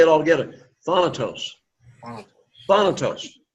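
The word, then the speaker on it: θάνατος: Thanatos. Thanatos. The emphasis is upon that first syllable, thanatos.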